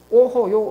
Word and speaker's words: 오호: 오호.요 어쩌는 오라고 발음하는데요. 감탄사일 때 아 드러나지 않느냐?